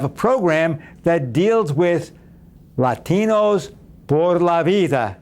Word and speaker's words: Latinos Por La Vida: How's that? That's about the extent of my Spanish, but I think I said it right, didn't I, Omar? Great to be with you. Absolutely. You got it right.